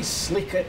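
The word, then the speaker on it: sleekit: offered to give him elocution lessons on Scots pronunciation here's apparently how it should have sounded we Sleek it kurin timorous beasty oh what a panics in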